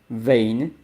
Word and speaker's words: vain: way and of course in English it's not van it's vain vein so that you know